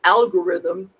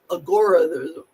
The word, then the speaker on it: algorithm: Somebody pronounced algorithm agorism. Algorism on a video I watched today. Agoraism.